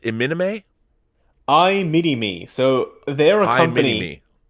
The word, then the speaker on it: iMini-Me: I love Equilibrium, and that is, how's that pronounced? Iminime?